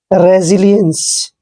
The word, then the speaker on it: resilience: देखिए इसमें भी एस से पहले ई आया है और एस के बाद आई आया है, इसलिए एस का उच्चारण हमने जय करना है और आई को ई की मात्रा पढ़ेंगे।